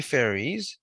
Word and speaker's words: Faroese: Yeah, so like you spell Feroe, like Pharaoh, and then I think it's FA, by the way. Faroese, Faroese.